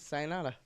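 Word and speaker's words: さようなら: Sayonara. Sayonara? Yeah. That's how you say it? Sayonara. Oh, okay. Yeah, that's goodbye in Japanese. Sayonara.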